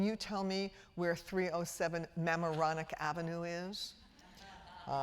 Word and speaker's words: Mamaroneck: Well, in fact, we couldn't find Mamaroneck Avenue because I had placed the accent on the wrong syllable. And indeed, it was Mamaroneck Avenue.